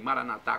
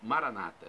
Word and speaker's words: Maranata: Maranata vinde Senhor Jesus os católicos dizem Maranata com a tônica na última sílaba os evangélicos nossos irmãos separados os protestantes dizem Maranata e com a tônica na penúltima sílaba não importa pronúncia o significado é o mesmo vinde Senhor Jesus vem senhor um